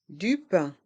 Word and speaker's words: pain: une baguette une baguette du pain du pain les trois dernières lettres A i n font le son un pain du pain du